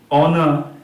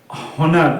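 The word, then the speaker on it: honour: এই তিনটা ক্ষেত্রে তো দেখলি, অনেস্ট, আওয়ার, অনার, এগুলো কিন্তু সব অ দিয়ে উচ্চারণ হচ্ছে। হনেস্ট, হাওয়ার, হনার, এরকম কিন্তু আমরা বলছি না, তাই তো?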